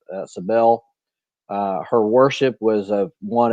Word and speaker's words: Cybele: So Sardis was devoted to the mother goddess of, I pronounce it Sybil. I don't know. It's Cybele.